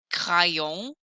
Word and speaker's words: crayon: First of all, let me just point out there are silent letters in French, like crayon. I don't hear the N.